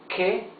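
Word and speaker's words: que: Here we read ke, ki. Ke, ki. Ke means the word what.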